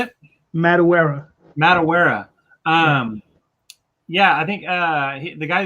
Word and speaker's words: Madureira: Oh yeah, Madureira. Well, how do you say it? Madureira.